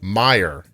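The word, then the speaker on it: Meijer: from Robin just a heads up major is pronounced Meyer and it's a michigan-based department store groceries clothing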